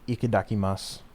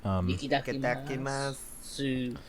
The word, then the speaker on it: Itadakimasu: The song is called Ikidakimasu. I think I pronounced that right. Itadakimasu. Yes.